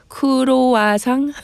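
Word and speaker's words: 크루아상: Uh in Korea is a kuruang. Is that how you say it? Yes. Uh with Chinley uh also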